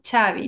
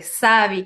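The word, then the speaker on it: Xavi: he dado cuenta que algunos nombres de origen Vasco pronuncian la x de forma diferente como chavi no eh En lugar de sabii como Javier que pues es esta x que tiene tres pronunciaciones según la región Y pues lo que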